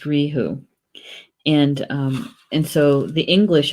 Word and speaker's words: reithe: word for RAM is Riku Riku Riku Riku it doesn't look like it's spelled at all like that but you know it's pronounced Rijo and and so the